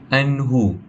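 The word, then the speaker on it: عنه: kita boleh jumpa pada anhu. Anh nun bertemu dengan huruf ha. Ah a hukum membacanya adalah tanpa dengung dan a membaca tanpa dengung.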